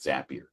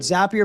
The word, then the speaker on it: Zapier: stage of how familiar are you with with zappier and that that's the first thing is is how do you pronounce the word uh zapier I always heard zappier makes you happier zapier makes you crazier right